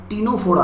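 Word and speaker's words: Ctenophora: ये आता है टीनोफोरा में, यहाँ सी साइलेंट होता है।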